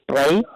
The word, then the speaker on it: Spree: little area that is spelled like spree but they say it like spray uh the spray for